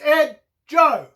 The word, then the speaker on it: Edgo: going around town that the D in my name is silent nothing could be further from the truth it's Ed Joe and Joe okay for